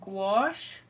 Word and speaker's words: gouache: to play around with these today they're called gouache I guess that's the way you pronounce it it's the way I've always pronounced